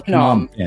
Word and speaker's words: Phnom Penh: And the Maven, just when you get a chance, is that pronounced Phnom? No, it's Phnom. It's Phnom Penh. Phnom Penh. Phnom. You know, the PH here, they always want to turn into fuck.